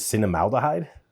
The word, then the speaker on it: cinnamaldehyde: The chemical that everybody's talking about here is cinnamaldehyde. Cinnamaldehyde, I believe is how you pronounce it.